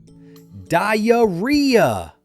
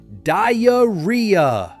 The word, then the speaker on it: diarrhea: It's pronounced diarrhea.